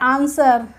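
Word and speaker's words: answer: है कैसे होता है आंसर एस के बाद डब्लू आया तो तो आं स्वर नहीं बोला हमने क्या बोला आंसर बोला तो साइलेंट रहा शर्ड शर्ड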